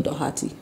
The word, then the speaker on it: Doherty: How's your name pronounced, Doherty or Doherty? Well, in Lagos, we actually pronounce it Doherty.